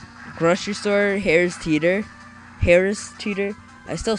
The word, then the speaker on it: Harris Teeter: grocery store hare's teeter harris teeter i still say it i used to say it like hairs teeter like your hair is teetering or something like that like hairs teeter instead of harris teeter i don't i don't